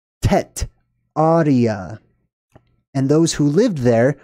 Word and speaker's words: Tartaria: just a skosh okay tartaria is a mispronunciation however it still works I'm going to explain what I mean by that the original word was not tar Taria it was tet Arya and those who lived